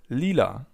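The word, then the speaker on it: Lila: Purple in German is called Leela. Leela. Imagine you're singing a song.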